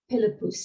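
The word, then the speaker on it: Pilipus: And when the name Philip first appears in Latin, Philippos was heard as Philippus, so P-I-L-I-P-U-S.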